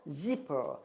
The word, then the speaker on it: zipper: 지퍼가 아니고 zipper. 여기 으자가 있는 것처럼 zipper 이렇게 하셔야 돼요.